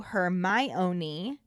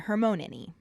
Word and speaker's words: Hermione: calling her hermione she breaks it down to her my own knee and decides he's close enough when he starts saying hermonanny after all the food has been eaten dumbledore